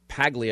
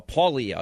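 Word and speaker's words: Paglia: introducing me to uh I've always said Camille pagle it's Camille uh paulia is the actual pronunciation of this and her life her background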